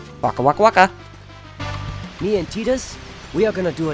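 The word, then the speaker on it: Tidus: what little boy tetus has to tell us tetus and yes it's preferred it's pronounced like that I don't know why people are you know some people call him Titus or whatever but uh it's actually preferred as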